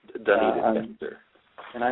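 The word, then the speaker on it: Dunedin: It's pronounced Duneden.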